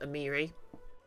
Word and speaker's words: Amiri: Apparently her name is pronounced Amiri.